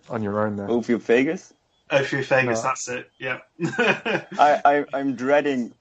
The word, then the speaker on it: Ophiophagus: Did you get to work with kings with Omorphagus or somebody please help me out there? What on your own there? Ophiophagus? Ophiophagus, that's it.